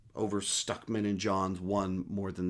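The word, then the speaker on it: Stuckmann: most jeremy jahant or stokeman uh both of those names are mispronounced uh stuckman with a you uh i wouldn't say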